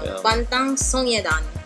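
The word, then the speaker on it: 방탄소년단: O yun, naku, na-murder, na-murder niya yung Korean pronunciation. Bangtan Sinodan. Yon, tama.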